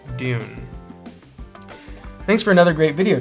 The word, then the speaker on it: Doune: that it was pronounced down. The castle is pronounced Dune.